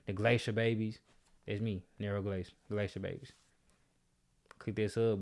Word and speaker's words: Nero Glace: Nero Glace.